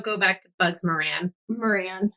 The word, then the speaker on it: Moran: Moran. Yeah, that's the easiest way to say it. Instead of like, moron.